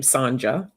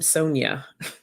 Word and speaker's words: Sanja: she pronounced her name sanja and that was always a tough one for me because people be like oh sanjo and sanja i'm like no i'm sonya that's sanjay sonya so